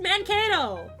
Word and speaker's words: Mankato: And I'm like, no, that's just how you say it! I mean, the accent was visible, though. That's how you say that word! It's just Mankato!